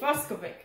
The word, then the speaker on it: Fucsovics: It's actually, it's Fucsovic. That's how they say it.